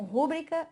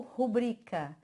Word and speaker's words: rubrica: É como rúbrica ou rubrica, né? Aí, pessoal, pu, rubrica. Rubrica esse documento aqui, coloca a sua rubrica aqui para mim. Aí o pessoal acha assim, nossa, professora de português falando errado.